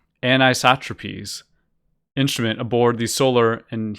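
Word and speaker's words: Anisotropies: Instead, he saw the possible and then confirmed comet while reviewing images captured by the Solar, Wind, and this word is pronounced anisotropes instrument aboard the Solar and Heliospheric Observatory called SOHO, a spacecraft overseen by NASA and the European Space Agency.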